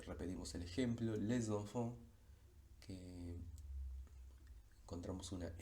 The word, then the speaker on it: les enfants: cualquier otro contexto, pero en la liaison va a tener un sonido, pero no va a ser el de S, sino el de S, cuyo símbolo fonético es la Z.